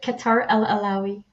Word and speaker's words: Kawtar El Alaoui: with Simon Phillips and my very special guest, Kawtar El Alaoui. I'm hoping I've got that right. You tell us how you would pronounce it. I pronounce it Kawtar El Alaoui, El Alaoui.